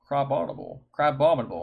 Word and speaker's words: Crabominable: Crabominable.